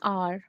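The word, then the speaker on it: hour: दिक्कत हो सकती है तो देखिए क्योंकि यहां पे एच क्या है साइलेंट है बहुत अच्छे because H is silent in आर option C शुड बी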